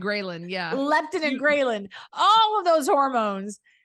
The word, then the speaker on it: ghrelin: your hormones and all the greptin and the ghrenin. No, I said it wrong, Cristy. The leptin and ghrelin, yeah.